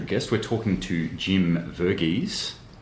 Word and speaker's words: Varghese: a very special guest we're talking to Jim verges correct pronunciation y yep excellent uh Jim is a